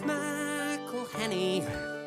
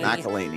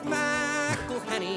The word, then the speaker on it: McElhenney: It's McElhenney, McElhenney. While ways to massacre and mispronounce it there are many. McElhaney. It's McElhenney. McElhaney. McElhenney. If there was doubt, now there won't be any.